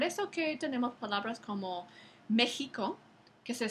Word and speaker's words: México: que tenemos palabras como México que que se se sigue escribiendo con x aunque se pronuncia eh No se pronuncia como otras X en el español la razón es porque